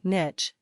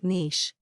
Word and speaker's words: niche: The Americans pronounce it niche, like itch. The British and the Canadians, of which I am one, pronounce it niche.